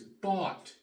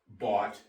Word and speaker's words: bought: the past tense is bought b u ght the GH is silent and when you teach